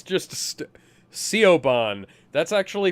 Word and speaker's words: Siobhan: It's just Siobhan. That's actually pronounced Siobhan.